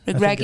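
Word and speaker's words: Regragui: yeah just amazing but I think I was thinking about their manager Morocco's uh wellie Reggie am I right Greggy is how they say it um he only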